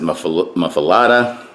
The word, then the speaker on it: muffuletta: to make a classic mufaleta people pronounce it muffalata you say potato i